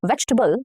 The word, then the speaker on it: vegetable: So in vegetable, veg, t. So after t, there is this t. So that is schwa, okay? Vegetable. And again, between B and L, there is again a schwa. B, okay? Vegetable. So there are 2 schwa.